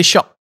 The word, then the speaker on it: Shiok: Because in Singapore, it's Shiok, right? Shiok. We say Shock. Shock. Because what? pronunciation wise, for Malay it's Syok.